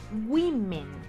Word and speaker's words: women: que una regla como las anteriores cambian la pronunciación woman women ok la hoya suena como si fuese un